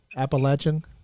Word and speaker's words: Appalachian: up yeah you won't I got you back appalachin that's how you say it how you say